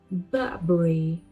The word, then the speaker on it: Burberry: It is Burberry. Now this word have different pronunciation in different regions.